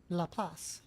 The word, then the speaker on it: Laplace: Laplace. That's how you say it.